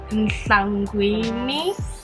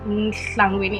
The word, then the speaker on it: Nhlangwini: It's Nhlangwini. No, Nhlangwini. Like the top of your tongue touches the roof of your mouth like that. Nhlangwini, and try to blow a little bit like Nhlang.